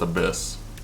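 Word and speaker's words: ABIS: Okay, so it's pronounced Abyss.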